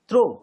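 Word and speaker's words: through: थ्रो यानी THROU भी होता है तो भी थ्रो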